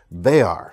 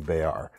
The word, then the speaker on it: Bexar: the Tactile Knife Company Bexar, spelled Bexar, but don't pronounce it that way or all the Texans in the comments will get angry at me, so don't come at me, bros.